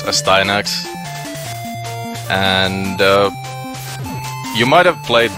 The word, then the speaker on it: Astyanax: yeah this is well some people probably called Asti onyx which is the correct pronunciation but I'll just refer to it as a Stein axe and you might have